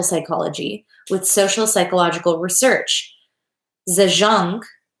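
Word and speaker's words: Zajonc: but years later robert zajonk in 1965 and 1980 saw a way to reconcile the contradictory results by integrating research from experimental psychology with social psychological research zhang is pronounced to rhyme with signs i don't know they've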